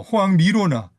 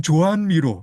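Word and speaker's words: Joan Miró: 그리고 어 호황 미로나 안토니 타피스 같은 카탈루니아 출신 화가들이 그 앨범 커버 그림을 그려줍니다. 아 그럼 조한미로 이렇게 발음해야 되겠네.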